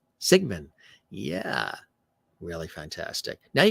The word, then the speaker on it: Siegmann: Siegmann.